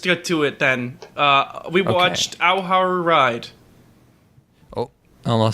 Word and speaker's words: Ao Haru Ride: We watched Ao Haru Ride. Oh, I'll say it again. Ao Haru Ride. Help me pronounce this, please, God.